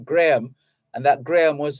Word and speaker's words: Graham: believe was his name Graham and that Graham was spelled g-r-a-e-m-e Graham hick so g-r-a-h-a-m is pronounced Graham it's pronounced as if there's no h there the H is silent Graham Hugh Graham resigns